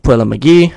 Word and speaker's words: Puella Magi: The name of the song we'll be playing is "Theme of Puella Magi" by Ice.